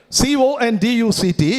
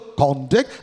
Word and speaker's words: conduct: CONDUCT, it could fall on the first syllable, conduct, that's a noun. Falls on the second syllable, conduct, it's a verb.